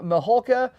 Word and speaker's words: Mihulka: it's it's uh well it's actually just like it's spelled it is but people usually add L's and K yeah right it's like